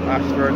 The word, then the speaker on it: Ayshford: As I said before, this Ashford is spelled A-Y-S-H-F-O-R-D. Most Ashford is A-S-H, but this one is A-Y-S-H.